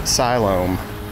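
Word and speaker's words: Siloam: the actual syum Springs that's how you pronounce it silom that's how the locals pronounce it there's a lot to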